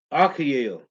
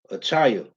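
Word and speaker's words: Achaia: of fact hold on i want to pronounce this word right bear with me for a second let me say this right i said it wrong okay achaya so let's say it's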